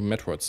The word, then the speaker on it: Metroid: da ist sind die Metroids ach scheiß drauf also so das war das hüpf so Vorsicht metroiden die einzig richtige Aussprache Metroid es war damals in